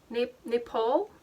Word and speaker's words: Naipaul: Naipaul. N-A-I-P-A-U-L. Naipaul? That's not Nepal.